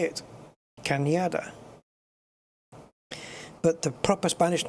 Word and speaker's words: Cañada: It's not Canada, it's Cañada. Because the N has a little, what's it called? On it, which gives you the Nya.